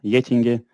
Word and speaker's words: Getinge: leading the crm initiative within getting how it's pronounced in swedish um i don't i